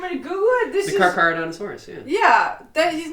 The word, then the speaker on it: Carcharodontosaurus: No, it's the Carcharodontosaurus, but that's not how you pronounce that. It's Carcharodontosaurus.